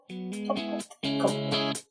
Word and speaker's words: compote: Compote.